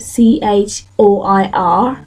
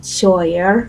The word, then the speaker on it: choir: a word for example take the word c h o i r that's choir but someone who's not a native speaker can say something like Cher or something and that can be really